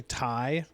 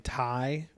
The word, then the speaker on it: Ti: the the oh also apparently you've been saying it wrong this whole time it's actually thai like during the presentation they kept saying tai instead of ti uh whatever so we've